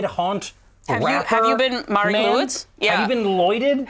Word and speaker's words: Mari Lwyd: It's Mari Lwyd.